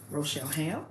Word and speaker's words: Rochelle: Rochelle Ham. Yeah. See, I butchered that and I knew it.